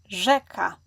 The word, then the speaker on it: rzeka: Both of those letters are pronounced the same way in the modern Polish language. Yes, they are written differently, but today they represent the same sound. This sound is similar to the s letter in the English word measure. If you are familiar with French, it is similar to the French letter J sound.